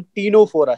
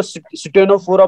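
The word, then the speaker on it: Ctenophora: तो first phylum is phylum protozoa, phylum Porifera, phylum Cnidaria, phylum टीनोफोरा। C silent रहेगा और टी से शुरू करेंगे। कुछ बच्चे इसको स्टेनोफोरा बोलते हैं, तो स्टेनोफोरा कोई वर्ड नहीं है बेटा, टीनोफोरा है।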